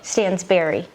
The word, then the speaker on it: Stansbury: How do you pronounce it? Stansbury. Stansbury. Okay. Bury. Yeah. See, that's Stansbury. Bury.